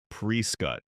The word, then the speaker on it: Prescott: Number one, Prescott. Locals pronounce it prec.